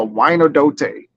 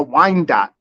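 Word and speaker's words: Wyandotte: I'll tell you that they have one that's like a wino-dote which I I have one or something it's spelled like w-y-a-n-d-o-t-t-o-e or something like that I was like they call it a Wine Dot I'm like how the hell is that Wine Dot that is man bothers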